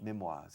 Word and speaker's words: memoirs: in this area okay memoirs in French pronunciation memorias okay we don't say memories memories on record OHS memories okay all